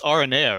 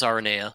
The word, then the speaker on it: Aranea: It's Aranea, right? It is Aranea.